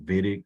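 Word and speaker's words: Wittig: what we call a vidic I know it's w but it's pronounced like a V it's a German word um and levitic is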